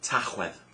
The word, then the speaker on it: Tachwedd: November is Tachwedd. That's quite hard, it's got a ch and a the in it, so I'll say it again. Tachwedd.